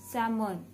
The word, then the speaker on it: salmon: Number fifth, salmon, not salmon. The right pronunciation is salmon. L has to be silent here.